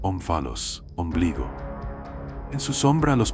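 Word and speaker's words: omphalos: En Delfos, una piedra más huevo que cubo, se pronuncia onfalos, ombligo.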